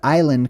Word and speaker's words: island: This is where this is where the word island comes from. That's why it's spelled with an S. If you ever wondered why island has a silent s on it, it's because originally it